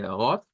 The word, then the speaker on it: Rot: Entonces, ya habíamos visto que la de Rot es con la R gutural al principio. Suena una O y una T.